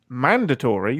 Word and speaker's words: mandatory: Side question, Ian, do you pronounce it mandatory, the correct way, or mandatory? Mandatory. I don't pronounce it. Mandatory or mandatory? Oh, wait. With the emphasis on man or dat.